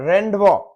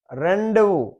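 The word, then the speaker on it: rendezvous: और जेड में है लेसे फेयर, लेसे फेयर और रेंडवो, रेंडेवू, रेंडेवू, रेंडेवू ये है मीटिंग या अपॉइंटमेंट, रेंडेवू।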